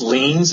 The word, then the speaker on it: liens: i get this wrong is it tax lines or liens or how do you say it uh it's actually tax liens and it's uh it's